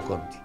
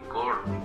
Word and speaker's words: Conti: Empezó como groseramente a equivocarse con el nombre de Conti, Corti, Kirki, Corki. Decía, ya, para, ¿cómo quiere que pida por alguien que ni siquiera se pronuncia bien su nombre?